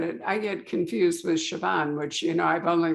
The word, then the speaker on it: Siobhan: now i get it i get confused with siobhan which you know i've only learned to pronounce for me and reagan otherwise i'd still